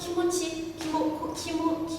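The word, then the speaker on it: キムチ: But in Japanese it's "Kimuchi".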